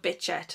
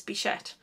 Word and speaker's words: Bichette: I'm not entirely sure, but a lot of people call it Bitchette, and there's no T in it, it's Bichette.